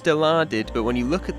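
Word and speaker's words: Dilaudid: Now, it's pronounced delarded, but when you look at the word, your first attempt would probably be deluded.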